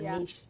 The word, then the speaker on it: niche: Niche okay niche well depends on what part of the country you're from if you're Southern it's definitely going to be Niche Niche and if